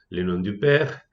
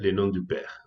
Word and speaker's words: Le Nom du Père: la segunda línea también se pronuncia Le Nom du Père. O sea que como significante, es decir, como imagen acústica, son lo mismo, ¿sí?